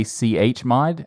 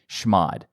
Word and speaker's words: chmod: Some people say chmod, and I like to say schmod. Oh, I say chmod. For no reason, I just like schmod. I like to break them up. Break it up to two syllables.